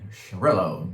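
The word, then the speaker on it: Xarel·lo: and the panagia and the shirello that's the weird one spelled with an x and here you go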